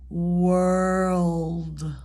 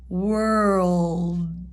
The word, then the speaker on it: world: more comfortable in pronunciation so in the back of the throat again think of the tongue kind of lifting up a little bit touching that soft palette up there oh oh like